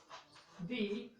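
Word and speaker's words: the: देखिए यहाँ पर किसकी साउंड आ रही है भाई, यहाँ पर साउंड आ रही है हमारे ओ की, तो यहाँ पर ये क्या हो गया भाई, यहाँ पर ये हो गया स्वर हो गया, ठीक है। इस वजह से हमने क्या बोला, दी।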